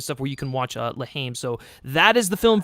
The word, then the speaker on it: La Haine: I believe that's how you say it, Lahaim?